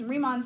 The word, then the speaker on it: Riemann: thing we're gonna talk about is something called Riemann sums riemann it's how you pronounce it Riemann know Riemann sums they come